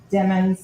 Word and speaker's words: Demons: in capitals and remember demons like rhymes with lemons I know my foreign October 26 2018.